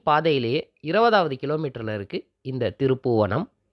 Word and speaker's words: திருப்பூவணம்: 20வது கிலோமீட்டர்ல இருக்கு இந்த திருப்புவனம் பெயர் பலகையிலயும் சரி கூகுள்லயும் சரி திருபுவனம் அப்படின்னு தான் குறிப்பிடப்பட்டிருக்கு திருப்புவனம் அப்படிங்கறது வேறொரு அர்த்தத்தைக் கொடுக்கும் சொல்லா மாறுது அதுமட்டுமில்லாம கும்பகோணம் பக்கத்துல திருபுவனம் அப்படிங்கிற இன்னொரு ஊர் இருக்கு திருப்பூவனமே சரியான உச்சரிப்பு நம் குடும்பத்தின் ஆரோக்கியத்திற்கும் நம்முடைய